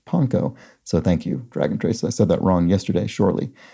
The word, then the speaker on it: panko: a reply here says, though commonly pronounced panko, it is more properly pronounced panko.